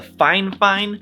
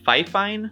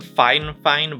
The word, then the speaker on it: FIFINE: fine fine instead of fife fine i've actually talked to fine fine before and they've told me that it's not actually pronounced phi fine it's it's meant to be pronounced fine fine i know it's totally